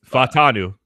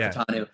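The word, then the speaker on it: Fautanu: I think that getting Troy, it's hard for me to pronounce. I will get the last name right at the end. It was Fontanu. Troy Fontanu.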